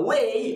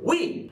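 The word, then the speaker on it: و: The word and in Egyptian Arabic, it can be considered as wa or we.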